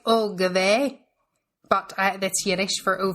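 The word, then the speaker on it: oy gevalt: as well, where she goes, I would say "oh gave," but that's Yiddish for "oh violence." Oh. Oyvalt. It's Yiddish. Oive, is it not? Oive.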